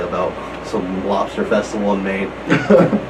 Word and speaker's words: Maine: And it's not Maine like M-A-I-N. It's like state, M-A-I-N-E. E. The E is silent.